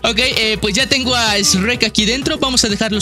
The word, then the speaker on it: Shrek: Es que no lo han pronunciado bien, habías dicho Rey. Es Shrek. Shrek.